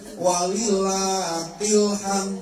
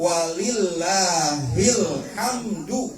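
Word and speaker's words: وَلِلّٰهِ الْحَمْد: Anak-anak ini mah yang takbiran di musala kadang-kadang bacanya walillahilham, walillahilham, aduh. Artinya sudah jauh, Bu, apalagi berhubungan dengan kalimat Allah. Yang benar, Bu, walillahilhamdu tadinya. Walillahilhamd. Coba kita fokus saja dulu ke kalimat ininya.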